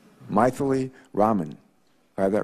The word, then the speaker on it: Mythili: Our second witness has a name I've never heard before, and her first name is Mythili, right? Mythili? Sort of rhymes with mightily, right? Mythili Raman.